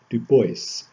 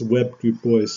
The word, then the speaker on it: Du Bois: Du Bois, basically pronounced in a shorthand of Webb Du Bois, Dubois, to use the French pronunciation, but Du Bois refused to use the French pronunciation, basically using the pronunciation